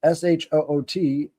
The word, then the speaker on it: Shut: So they called it the Shut, pronounced Shoot, to be another part of a person's soul.